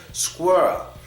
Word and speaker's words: squirrel: no it's squirr squirr it has to be continuous because if it's not continuous you might say it like some of the Germans say it when they say squirr squirr squir no don't stop keep it moving squirrel squirrel